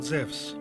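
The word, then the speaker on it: Ζευς: zeus and the muses the name's use is actually a wrong english translation because correctly he is called zevs in the greek language e and u is pronounced like a w in the word wisdom zephs was the leader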